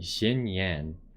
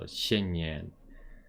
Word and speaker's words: Xinyan: say her name right it's got to be xin yen i just i don't speak chinese so it's hard to pronounce those x's correctly but it's kind of like only you keep your tongue on the bottom of your mouth so xin yin charge the tax by